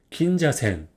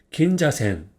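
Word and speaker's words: 銀座線: 됩니다 운동으로는 생이라고 있습니다 그래서 전체적으로 이거 보면 긴자센이라고 읽어요 읽어 볼까요 긴자센 긴자센 그럼 한번 읽어 볼까요 이건 뭐죠 자 로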